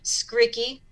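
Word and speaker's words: Skrycki: r capital r capital r that's two r's skriki and it's spelled s k r y c k i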